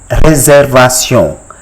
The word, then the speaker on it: réservation: It is called réservation.